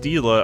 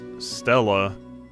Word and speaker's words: Stila: his friend since it's it's pronounced stila i would guess stella i would have guessed that because there's not two e's and when i think of like steel you know steel has two e's this doesn't have two